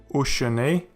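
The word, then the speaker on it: וּשְׁנֵי: And this means of course that the Shewa is pronounced. Ushene, and it means and to.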